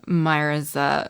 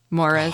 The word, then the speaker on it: Moira: a daily snippet for Myra's wigs. Moira's. Oh, I definitely should. I cannot pronounce her name. Moira. My mouth does not move that way.